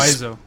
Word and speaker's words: Wiseau: Oh, it's actually Wiseau. It's pronounced.